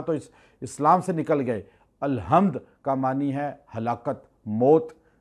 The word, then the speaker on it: الحمد: حمد اللہ کے لیے۔ آپ کہتے ہیں الحمد، اکثر لوگ تلفظ ادا نہیں کرتے، ہا نہیں کہتے، ہے کہہ دیتے ہیں الحمدللہ، اس کا معنی چینج ہو گیا، کفر آ گیا، نماز